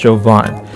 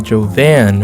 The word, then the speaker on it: Jovan: you that don't know my name is but it's pronounced jovan like if the L was there in 78 and I get it because in your mind you would say and think to call me Joe van right which is fine